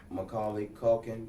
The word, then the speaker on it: Macaulay Culkin: I don't know now know for Macaulay cult Macaulay Culkin is a his name I said it right